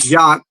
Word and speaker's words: Jacques: hi, shalom, you know, my name is Jacques, pronounced Ak with J in front of it. Definitely not spelled that way, but it is pronounced that way.